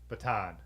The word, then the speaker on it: baton: could o the Baton baton yeah I said baton that's uh the British pronunciation from listening to too